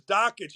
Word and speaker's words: Dakich: Up Guys you know your name is dockage it rhymes with dickage it rhymes with jockets it rhymes with all kind of things shut up quit whining